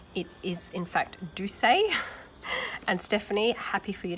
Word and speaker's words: Dulce: but she pronounces it do say and I'm assuming that is the proper Spanish pronunciation for the word spelt D u LC e I've been calling it